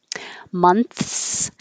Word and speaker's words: months: s months months so most native speakers are making the shortcut and not making a th at all and just saying months and you won't even notice it six months ago so i didn't say months at all i said six months